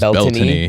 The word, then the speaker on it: Beltane: Now the proper Celtic pronunciation is Beltane.